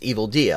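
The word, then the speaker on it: Evildea: anything about me evil dear does not believe that people generally speak 46 languages uh okay it's evil Dia I wasn't sure if it was DEA or Dia I hadn't heard it pronounced I sort of missed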